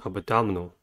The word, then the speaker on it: abdominal: The first word is abdominal. Abdominal has four syllables and the stress is at the second one.